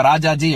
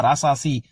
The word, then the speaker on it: ராஜாஜி: ஹ தான் தான் சொல்லணும் இப்ப ராஜாஜி அப்படின்னு இருந்ததுன்னா ராசாசி அப்படின்னு எல்லாம் சொல்ல முடியாது அது வந்து அது சமஸ்கிருதத்துக்கும் இழுக்கு அப்படி உச்சரிச்சோம்னா தமிழுக்கும் இழுக்கு அது ரொம்ப முக்கியமான விஷயம்